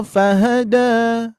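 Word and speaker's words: فَهَدَىٰ: Walladzi qaddaro fahada da ah biasa ya ngalir ngalir jangan da da ah tidak dihentakan ya.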